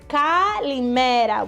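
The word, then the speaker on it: καλημέρα: So the way we say kalimera, which is right on my apron, is kalimera, which means good day.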